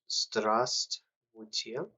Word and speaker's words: Здравствуйте: The funny thing is, for some reason, a lot of people don't pronounce the first V, but Здравствуйте, which is your former hello.